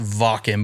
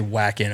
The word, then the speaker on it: Wacken: It's about I think it's pronounced Vakken, but we say Wacken over here because it's with a W.